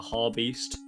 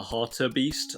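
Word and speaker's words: hartebeest: in this next segment I call it like the har beast but it's actually called the Harter Beast I don't know why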